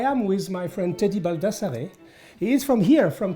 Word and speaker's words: Baldassarre: I say Baldassarre. Baldassarre. Baldassarre. But in Italian we say Baldassarre.